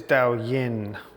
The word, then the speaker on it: Daoyin: And I pronounce it Dao Yin, but it's Daoyin.